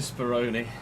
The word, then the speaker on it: Spironi: Julian Spironi rhymes with pepperoni.